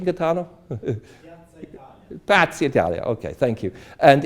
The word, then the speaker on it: Piazza d'Italia: Is that the right pronunciation, Gaetano? Piazza Italia, okay, thank you.